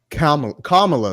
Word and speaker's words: Kamala: go uh one by one right okay Kam Kamala am I saying that right Kam comma there we go KLA Harris they out there